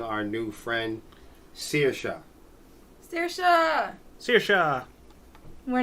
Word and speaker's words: Saoirse: So everybody knows, like scissors, like shears, but like Saoirse.